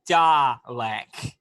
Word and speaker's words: Dalek: Again, I must correct you on the pronunciation. It is Dalek.